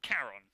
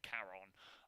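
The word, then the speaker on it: Charon: across the river sticks that guy was called caron right c-h-a-r-o-n caron um in greek but uh the guy who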